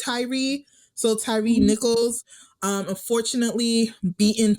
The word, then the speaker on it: Tyre: And I know this is coming out a little bit later, but I believe his name is pronounced Tyree.